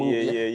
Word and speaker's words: Moovie: MOOVIE.